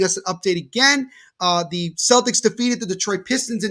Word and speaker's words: Celtics: It's in the NBA, Al, it's Celtics. Celtics.